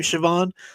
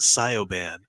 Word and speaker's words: Siobhan: But apparently the person reading it didn't know how you actually spelled the name Siobhan. So she pronounced it Sioban.